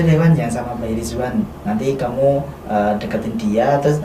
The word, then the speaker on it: Rizwan: Ridwan, tapi di sana kan bacanya tuh Rizwan. Oh, pakai Z. Pakai Z. Jadi aku di sana ngomongnya Rizwan, bukan Ridwan, tapi Rizwan gitu.